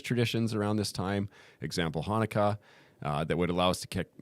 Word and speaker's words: Hanukkah: Yeah, I'd like to know because for me, the only thing I know about Hanukkah is that it rhymes with harmonica, and Adam Sandler sang a really good song.